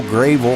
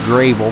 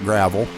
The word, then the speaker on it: Gravel: Dale Gravel, and that's pronounced Gravel, not gravel. I had to make sure I got that right.